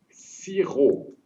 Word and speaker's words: sirop: sans oublier bien sûr P ne se prononce pas gagner alors on commence